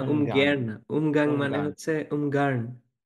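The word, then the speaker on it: Ungarn: ও আচ্ছা উয়ান না উগানাং মানে হচ্ছে উনগার্ন তো আরটাকে উচ্চারণ করে না ওরা এভাবে বলে উগান এটা মানে হচ্ছে কে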